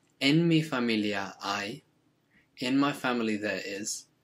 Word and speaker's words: hay: Now careful with the pronunciation here, because I, H-A-Y, is pronounced a bit like the English word for I. So the H is always silent, I, and you can remember I as a way to remind yourself of how to pronounce that. So we've got tengo, I